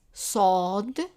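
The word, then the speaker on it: صاد: of this letter is sod sod repeat after me sword sword and the sound of it in msa is s but pronounced in the back of the mouth so it's so so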